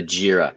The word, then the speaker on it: Jira: That pronunciation? Yeah, you got it. The Jira. So Jira is a system that helps manage team projects